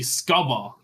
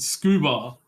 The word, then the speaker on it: scuba: stupid you pronounce it scuba you don't you don't have to um yeah you don't have to pronounce the letters in the acronym the way that the start of the letter is pronounced for the ACT from